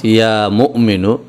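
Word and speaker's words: يا مؤمن: বাংলায় লেখা হয়েছে মুমিনু কিন্তু আসল উচ্চারণটা হচ্ছে ইয়া মুমিনু এখানে মিমের পরে একটা হামজা রয়েছে একটুখানি ধাক্কা হবে এভাবে এখানে যে কথাটা বলা হয়েছে যে ব্যক্তি এই এসেম মোবারক অর্থাৎ ইয়া মুমিনু এই এসএম মোবারক প্রত্যহ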